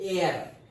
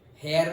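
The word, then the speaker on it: heir: Annexation due टू the king dying without एयर, हेयर नहीं पढ़ना है इसको, इसको पढ़ते हैं एयर, एयर, okay, H silent, एयर, okay.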